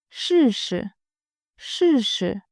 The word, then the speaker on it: 试试: I will give you the meaning first, then we will work on the pronunciation. 试试，试试 means give it a try or try it out.